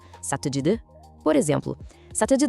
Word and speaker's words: ça te dit de: A pronúncia é toda conectada. Ça te dit de?